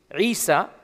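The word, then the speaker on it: عيسى: his language he never called himself Jesus this is a latinized uh a latinized transliteration of Esau is most likely how he pronounced it in Aramaic and in Arabic Isa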